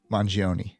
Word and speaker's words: Mangione: How do you pronounce the last name? It is Mangione.